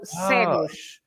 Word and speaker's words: cegos: This is a C right next to an E, so you pronounce as the S sounds, S. So cegos.